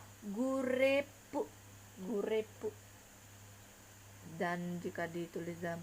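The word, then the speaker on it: グループ: Nah, grup ini jika di dalam pelafalan Jepang dia akan menjadi gurepu, gurepu.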